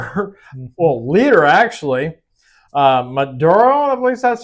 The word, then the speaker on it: Maduro: member, well leader actually, uh Maduro, I believe that's how you say his name.